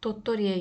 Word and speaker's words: 도토리: gibi taram şeklinde tottori Geldiğimizde yine kelimenin başı d harfi ile başlamış O yüzden t'ye yakın bir şekilde okuyoruz t harfi zaten T olarak okunuyor kelimenin içerisinde yine r l harfinden sonra ünlü bir harf geldiği için de R şeklinde okuyoruz o yüzden tottori taram chiva tottori tarami